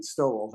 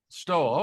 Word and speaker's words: Stowell: How do you pronounce it, John? That is correct. Just like a mink but a different spelling. Stole. That's it. Stole.